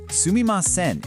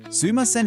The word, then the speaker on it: すみません: Sumi maen is the proper dictionary correct version. You use this when you're writing and in any situation that calls for politeness. Sumaen is basically just a more casual slur pronunciation that's easier to say.